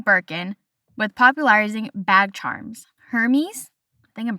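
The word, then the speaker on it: Hermès: silent and it is more Hermes, not Hermes.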